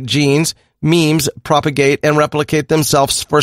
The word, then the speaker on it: meme: the new replicator a meme an abbreviation of the Greek word MIM and pronounced in rhyme with cream according to Dawkins human